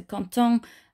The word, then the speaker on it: content: That doesn't actually change the pronunciation. So content, with or without the S, sounds the same.